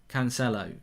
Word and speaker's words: Cancelo: And C is like S. Cancelo, says Marco de Santa.